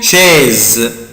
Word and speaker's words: chaise: اولا انا بنطق السي اش بنطقها شيز، وهنا حرف الاس جاي بين حرفين اتنين فويل لا لتر اي ولا لتر او فهنطقه زد.